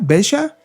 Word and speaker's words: Veja: una marca que se llama Bella así se pronuncia besha bha es es una es un proyecto eh